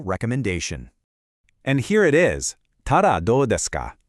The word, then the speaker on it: たらどうですか: Ta-da, do desu ka? Pronounced ta-da, do desu ka?